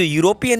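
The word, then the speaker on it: European: सबसे पहली बात तो देखिए, ये जो यूरोपियन है इसमें ई साइलेंट है।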